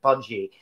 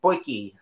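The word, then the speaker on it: potjie: rather indignantly that no, they don't pronounce it pudgy, even though it looks like it. They pronounce it poiki.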